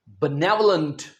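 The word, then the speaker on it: benevolent: My dear students इसका सही pronunciation है बनेवलंट। बनेवलेंट।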